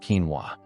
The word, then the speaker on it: quinoa: Coming in at number five, but foundational to this protocol is quinoa, pronounced quinoa.